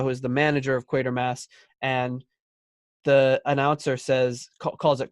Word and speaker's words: Quatermass: is the manager of Quatermass, and the announcer calls it Quatermass, and she goes, Quatermass. She says it's pronounced Quatermass because that's the way it's spelled.